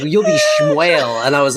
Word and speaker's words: Shmuel: So they were like, you'll be Shmuel. And I was like, oh, good. But it's like still because it's also like Shmuel is such a schlubby sounding like Shmuel. And it rhymes it sounds like whale.